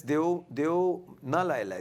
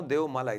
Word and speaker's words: deu nalai lai: It's a Nepali thing, and it's Deo Na Lai Lai. There's no Deo Malai. There's no Malai in Nepal.